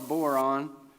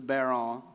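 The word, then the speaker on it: bodhrán: drum called the uh i call it a boron but uh it's a bear-on i think it's pronounced pronunciation right yeah you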